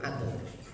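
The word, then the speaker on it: عدل: Al-adal bunyinya itu karena bahasa Arab diwakaf jadi adl. Adlu jadi adl gitu. Yang lainnya biasanya pas wakafnya. Karena wakafnya harus pasnya adal jadi bacanya adl.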